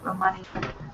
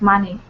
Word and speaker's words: money: Of money. All right. Well, there we Oh, go. the money. Yeah, I've got problem with pronunciation. Is that money or money? Money. Money. Money. Yeah, Money. The first syllable stress.